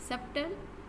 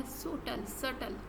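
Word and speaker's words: subtle: सब्टल, इसमें B silent होगा। सटल इस तरह आप पढ़ेंगे, ठीक है।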